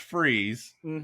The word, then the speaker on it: Fries: spells he goes it's pronounced freeze spelled f-r-i-e-s yeah that's actual fruit